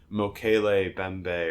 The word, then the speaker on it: Mokele Mbembe: I think it's called Mokele Bembe or whatever. I don't know how it's pronounced, but it's Mokele Mbembe. I think Mokele.